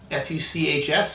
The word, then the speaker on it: Fuchs: sylvaner from eblin fuchs f-u-c-h-s so i'm going to pronounce that fuchs as opposed to the other option from all sauce now